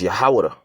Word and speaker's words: Yahawada: That's the tribe of Judah, which that's not even the correct way to say it. Okay, it's Yahawada.